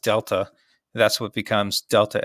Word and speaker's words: delta: where, just so you know, the triangle is pronounced delta.